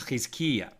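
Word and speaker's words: חזקיה: Right, so Matt, why don't we pronounce it the way it's pronounced in Hebrew, which is Chizkiya. Okay, so the sages taught King Chizkiya performed 6 actions.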